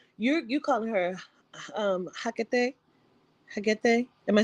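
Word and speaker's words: Hekate: like, you calling her Hecate? Am I saying it correctly? Yeah, I mean, Hagate. like, I spell it with a K.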